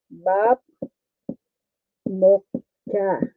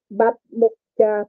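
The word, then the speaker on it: 밥 먹자: Pero pag binasa mo to, hindi bap mukcha, kundi parang hindi mo to i-pronounce yung T. Bamukcha, pamukcha, ganun na. Bamukcha, ganun na lang yan siya. Kasi ang B at saka P sa Korea, the same lang, the same ang sound.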